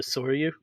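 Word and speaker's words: Sōryū: It's a very detailed carrier photo etch set for the Soryu. That's how you pronounce it, right, Dennis?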